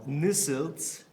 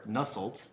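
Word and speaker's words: Nusselt: was this guy um I had to call my German friend to learn how to actually pronounce his name you guys probably know him as nestled so new suits or nussled what he did was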